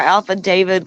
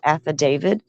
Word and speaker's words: affidavit: Everybody liking our Alpha David comments there. Yes, Alpha David. Paula, I saw that. You're right. The correct pronunciation, everyone, is affidavit.